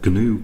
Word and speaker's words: GNU: The compiler that I'm going to be using for these tutorials is the GNU compiler. The G is actually pronounced in GNU, I believe.